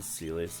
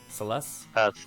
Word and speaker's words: Celes: god dammit come on celis if you can uh wait what how did you say what's supposed to be pronounced celeste celeste all right come